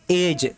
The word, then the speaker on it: edge: side नहीं पढ़ेंगे यह जगह एडीजी इसको पढेंगे ऐज क्या पढेंगे आज इज मतलब क्या होता रेस्टोरेंट